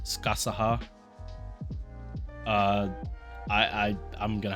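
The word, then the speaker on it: Scáthach: in uh she shows video um apparently it's pronounced skasaha uh i i i'm gonna have problems pronouncing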